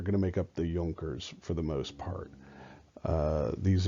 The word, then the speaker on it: Junkers: He was supported in this by the Junkers. That's how it's pronounced, Junkers. It's a German word.